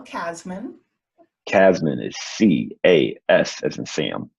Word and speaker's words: Casmon: Casmon is C-A-S as in Sam, M-O-N. Yes. I would say it's spelled like it sounds, but some people might think it's different.